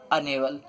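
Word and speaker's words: unable: देखते हैं आगे है अनेबल अब यहां पर भी यू आ गया लेकिन यहां पर जो यू है व अपना खुद का प्रोनाउंस नहीं करा रहा है हम य नेवल नहीं पढ़ रहे हम क्या पढ़ रहे हैं अनेबल आ क्या है एक बवेल यहां पर क्या आएगा एन एन अनेबल अब आगे है चौक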